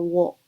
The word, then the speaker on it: を: it wa, and also the particle o or wo.